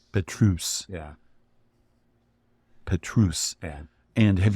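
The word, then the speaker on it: Pétrus: Did I pronounce that right? Petrus. Petrus.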